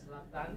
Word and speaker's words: Zlatan: Zlatan.